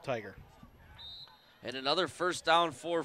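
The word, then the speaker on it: Tyger: 24 of Southwestern game tiger you know that's proper pronunciation but t-y-g-e-r I will go with tiger and another first down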